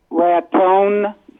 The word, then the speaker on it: Raton: Jim in Raton, New Mexico, or Raton, New Mexico? How do you say it, Jim? Raton.